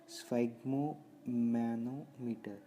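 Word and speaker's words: sphygmomanometer: एंड स्फेगमोमैनोमीटर okay so this is हाउ you pronounce this word स्फेगमोमैनोमीटर are related to your dentist field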